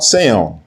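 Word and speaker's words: ציון: In Mount Seon and in Yerushalayim, which are mispronounced as Zion and Jerusalem, will be deliverance, as Yahweh has said.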